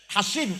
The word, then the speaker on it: Hasin: sahabat namanya Hasin alkazraji Hasin ya pakai ya kalauin nanti Husin bacanya Hasin Al khazraji punya anak tidak